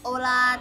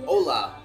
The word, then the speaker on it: Ola: Hi everyone, this is Ola Thai. How do you pronounce the name of your restaurant? Ola. Ola. Like hello in Spanish.